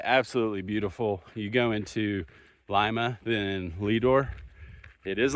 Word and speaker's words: Lima: It is Lima not Lima. I thought it was Lima but all the towns out here are not the way I would pronounce them so it's not like Lima Peru.